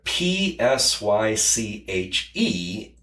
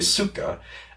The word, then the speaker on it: psyche: uh p s y c h e psyche which is actually not the pronunciation. It's actually suka.